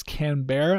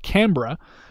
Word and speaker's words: Canberra: And then last but not least, I don't think you pronounce this Canberra. I think you pronounce it Canberra.